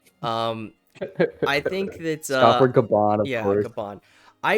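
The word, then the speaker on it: Gaban: Scopper Gavin.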